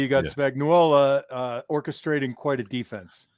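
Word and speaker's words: Spagnuolo: to say you got Spagnola uh orchestrating quite a defense John I know he's Italian you don't have to add a you don't have to add syllables Spagnola Spagnola we're gonna have it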